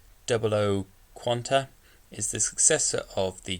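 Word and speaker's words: 00 Qan[T]: So to begin with, the GNT quadruple zero double zero quant, aka 00 quant, 00 quant T, pronounced 00 quanta, is the successor of the GN quadruple zero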